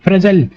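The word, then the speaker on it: fragile: না ফ্রেগাইল না উইক ফ্রেগাইল মানে কি ফ্রেজাইল সরি ফ্রেজাইল স্পেলিং প্রোনাউন্সিয়েশনটা হবে ফ্রেজাইল। সেটাকে বলা হয় ফ্রেজাইল মানে কি?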